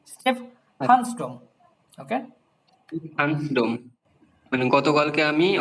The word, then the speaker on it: Stephansdom: দেন স্টেফহানসডম এভাবে উচ্চারণ করবেন, যে যদি একবারে কি হয়ে যায়, খুব বড় হয়ে যায়, তখন ভেঙে ভেঙে স্টেফহানসডম।